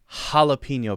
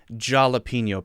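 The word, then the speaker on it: jalapeño: very good, it's a jalapeno pepper, not a jalapeno pepper, right? It's spelled with a J, but we say ha. That's just how Spanish works.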